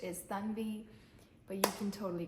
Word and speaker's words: Tanvi: My name is Tanvi and I go by Tanvi in the US, which some people might judge me for it, but I actually love the sound of Tanvi.